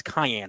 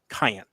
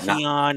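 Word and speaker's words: Kiyan: as we now know it's Cayenne Anthony like cayenne pepper there there are many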